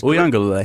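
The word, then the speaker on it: Uiagalelei: I'm not even going to try to pronounce Mateo. I had it before. Uyangalele. Yeah, that's Uyangalele.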